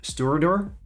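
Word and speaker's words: Stiùireadair: filtered and natural color it does actually give us the correct pronunciation on the back of the bottle as most bunnies do this one is stewardor okay um we get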